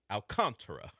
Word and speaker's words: Alcantara: That's how they say his name. Alcantara.